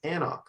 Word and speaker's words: anCnoc: And now we all know it's anCnoc from Knock Do. The name is very intimidating to read, but very easy to pronounce.